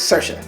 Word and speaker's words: Saoirse: It's Saoirse like inertia. If you ever saw her in that SNL bit, she says that how to pronounce her name is Saoirse like inertia Ronan.